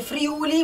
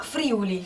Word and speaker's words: Friuli: Che per poi esempio, non si dice Friuli, ma Friuli.